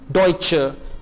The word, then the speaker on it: Deutsche: Sie sind Deutsche। जी हां, आप German है, चे से प्रोनाउंस करेंगे Deutsche।